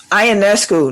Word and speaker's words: Ionescu: It's like Ionescu. Ionescu, that is it. It's all them extra syllables and whatnot in there.